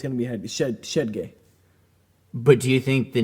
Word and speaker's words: Shedge: Because I have heard it pronounced both ways. It's not Shedge. Damn. We don't have we it wouldn't be d. It's shedgay. It's shedgay cuz headgeay is a very popular last name as well.